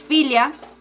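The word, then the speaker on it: filha: se pronuncia lo le daríamos filo pero se pronuncia realmente filio esto también aplica para hija que es filia y para hoja que exfolia entonces la l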